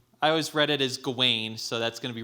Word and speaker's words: Gawain: is gawaine hot all right looked up the pronunciation so gawaine at the beginning of the green night just